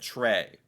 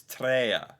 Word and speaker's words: tre: that's the thing okay like I would have said Trey it's tra not Trey it's not fire it's